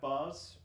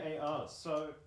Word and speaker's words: BAR: I do have bars which could go 30. Is that Look at right? Those hot bars. BAR. BAR. So It says in They're the gonna infantry be- manual They're not pronounced bars, B-A-Rs.